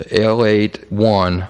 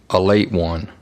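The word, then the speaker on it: Ale-8-One: pop soda pop the l81 i think is the official name of the pop but it's pronounced a late one a late one pop but people people around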